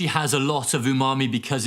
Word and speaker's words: umami: heard about umami and maybe i pronounced it umami as well um but but i quickly learned that it's it's umami brilliant well it really